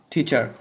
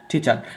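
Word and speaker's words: teacher: টিচার যদি আমাদের এখানে টি সাউন্ড হবে না। দেখো এখানে আমরা এটার উচ্চারণ করি টি। ঠিক আছে? এ উচ্চারণ এতদিন করতাম টি। এখন থেকে টি করা যাবে না। এর উচ্চারণ হবে টি। টিচার। কি হবে? টিচার। আর শব্দের শেষে আর উচ্চারিত হয় না।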